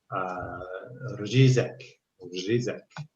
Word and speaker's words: řízek: And then in Czech, there's this word řízek. And it's this rolling R with the j on top of it.